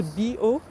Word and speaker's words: bio: bio bio me organic so it's not bio they're not talking about biochemical or biomedical or something no bio it's pronounce b o that means organic so you'll see that